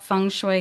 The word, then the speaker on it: feng shui: Let's talk a little bit about first about what funue is and am I saying it correctly?